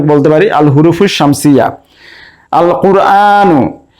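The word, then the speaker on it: القرآن: পারি আল হুরুফুফুফুফুফু শামসিয়া আল কুরআন এখানে আলিফ লামের লাম উচ্চারণ হচ্ছে তাই আমরা এটিকে বলতে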